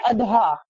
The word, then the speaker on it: اضحیٰ: اسی طرح یوم الاضحیٰ، تو صحیح تلفظ کیا ہے؟ اضحیٰ، اور اس کے معنی